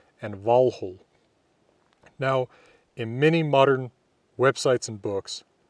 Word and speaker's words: Valhöll: reconstructed Old Norse pronunciation rather than modern Icelandic pronunciation, which is true of all my videos. I will often be mentioning hell and Valhöll.